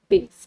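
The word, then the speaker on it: bass: Speakers voice next question है the speakers voice had a soothing बेस quality. अब इसको लिखते बी ए एस एस है। बट इसको प्रोनाउंस कैसे करते हैं बेस की तरह।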